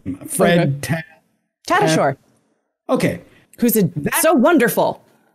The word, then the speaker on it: Fred Tatasciore: You probably even know how to pronounce his name. Fred Tatasciore.